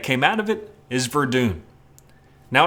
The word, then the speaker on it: Verdun: to me a World War I shooter called verden it's actually pronounced Verdun oops this has been highly recommended by a